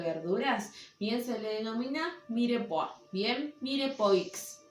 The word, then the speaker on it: mirepoix: bien se le denomina mire por bien mire pues se escribe con x al final entonces éste mire puedo